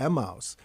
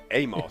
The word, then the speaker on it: Emmaus: I think in Greek it's Emmaus, but people will look at you very strangely.